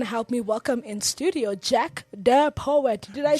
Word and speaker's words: Jack De Poet: Ladies and gentlemen, help me welcome in studio Jack the Poet. Did I say it correctly? Yeah. All right. Of course, Jack the Poet.